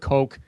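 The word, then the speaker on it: Koch: brothers yeah or yeah it's either pronounced cotch or Coke I've heard kooch um but yeah I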